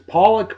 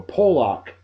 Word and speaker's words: Pollock: Oliver I don't know if it's pawlik or Pollock p-o-l-l-o-c-k you can pronounce it either way Oliver pollock a New